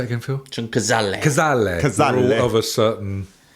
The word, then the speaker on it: Cazale: Cazale.